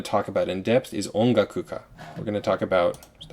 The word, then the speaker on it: ongakuka: So I should be able to say ongakuka correctly. I should not say something like onkakuka with a ka instead of a ga.